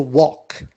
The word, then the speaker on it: walk: And we have another verb which is to walk. L is silent and the past becomes walked.